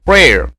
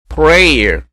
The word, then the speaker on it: prayer: 요거 P-R-A-Y-E-R prayer 이렇게 단음으로 발음하게 되면 기도라고 하는 뜻이 되고요. prayer 이렇게 두 음절로 발음하게 되면 기도하는 사람이 됩니다.